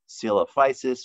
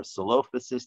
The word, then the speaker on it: Coelophysis: looks like another dinosaur called coelophysis or salophasis depending on again who you ask how to pronounce it and this is what